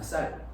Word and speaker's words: 쌀: 여러분들은 다 쌀을 뭐라고 발음해요? 쌍시옷으로 발음을 하죠. 근데 우리 대한민국에도 이 쌀을 쌍시옷 발음이 안 되는 지역이 있대요. 살이라고 발음. 그러니까 우리가 말하는 이 살이 아니라 쌀인데 발음이 그렇게 나오는 거예요. 쌍시옷 발음이 안 나와요.